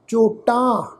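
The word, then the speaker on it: ਚੋਟਾਂ: मन्नै मूँह, चोटां चच्चे अखर के उपर होड़े की मात्रा, टैके नूं कन्ना नाल उपर बिंदी प्रनाउंस करांगे क्योंकि बहुवचन आ।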